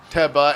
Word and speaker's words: Teba: Okay, so you're saying as British, you pronounce it Teba and Brian's saying literally it's also like like tennis or tea as well.